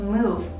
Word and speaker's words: mo: Mo is a bilabial initial, but it's a nasal sound. During the pronunciation, your mouth is tightly closed, and the air will come out from your nose.